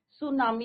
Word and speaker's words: tsunami: तो बच्चों this is your second chapter from the book Honey due सुनामी यहां पे टी is your silent Japanese word है बच्चों सुनामी सु मींस